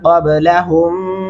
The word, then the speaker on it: قبلهم: الم يروا كم اهلكنا قبلهم من القرون. یہاں پہ آپ نے یہ خاص دھیان رکھنا ہے، قبلهم، قبلهم یہاں پہ کلکلا کریں گے، کیا پڑھیں گے؟ قبلهم، قبلهم ایسے نہیں کرنا، قبلهم من القرون.